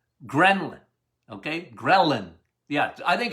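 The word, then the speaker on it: ghrelin: g h uh r e l i n Gren okay gin yeah I think it's spelled it's pronounced gin leptin and G they're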